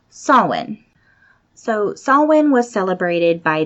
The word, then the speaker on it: Samhain: looks like it says Samhain it's s a.m. HIA I am say it looks like Samhain but in Gaelic it's actually pronounced Sawin so Sawin was celebrated